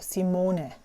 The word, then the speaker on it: Simone: I pronounce my name my name is actually pronounced in German the way that everyone would pronounce it is Simone it's a short sound at the end however and a long o Simone however when I came